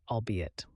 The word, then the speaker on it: albeit: Let's learn how to pronounce and use the word albeit. The correct pronunciation is all bit with the stress on the second syllable.